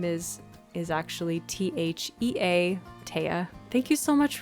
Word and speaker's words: Thea: So it's spelled like Thea, but it's pronounced Thea. That's how it's pronounced because it is a Dutch name.